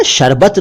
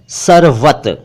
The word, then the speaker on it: सरवत: ना शरबत नहीं कह रहा हूं मैं, सरवत। देखिए उच्चारण मैं बिल्कुल सही करता हूं जहां तक संभव होता है, तो आप जरा ध्यान से सुन लिया करें। मैंने बोला सरवत।